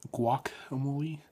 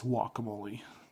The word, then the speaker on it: guacamole: is guacamole not guacamole you don't pronounce the G so uh yeah the